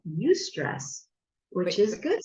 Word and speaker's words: eustress: Not me stress, but eustress. No, it's spelled EUSTRESS. So it's eustress as opposed to distress.